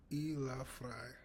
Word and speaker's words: elafry: put in um so it's either elafry. So e as in yeah elaf fry I was saying fray. I don't know why I don't know why I pronounce it as fray.